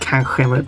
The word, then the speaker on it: kanske: Nog is assuming positive, while kanske or kanske, depending on what you prefer, which should be pronounced kanske, but I say kanske because I'm weird, is neutral.